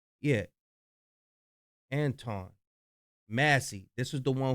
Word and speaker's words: Antoine: Is that how you pronounce his name? Yeah. Antoine.